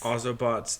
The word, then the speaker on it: Ozobots: the uh the ozobots am I even pronouncing that correctly ozobots yes ozobots that is correct Sarah take it away